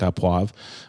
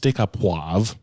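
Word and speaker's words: steak au poivre: before doing a steak op pav um in a few episode you actually pronounce it wavra sta pav yeah it's staav okay whatever yeah um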